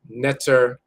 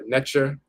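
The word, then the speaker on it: nṯr: So you often see that as netter or netcher, but it's spelled NTR.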